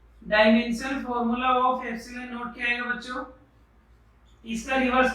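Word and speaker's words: epsilon naught: इसको बार बार बच्चों में क्या बोल रहा हूँ, ये जो है ये है एप्सिलॉन नॉट, एप्सिलॉन नॉट NaUGHT, ये है इसका प्रोनाउंसिएशन एप्सिलॉन नॉट।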